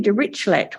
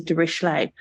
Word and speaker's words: Dirichlet: called the MBD, and it's technically Dirichlet model, even though it's often pronounced as Dirichlet. because he was a German statistician who lived in France.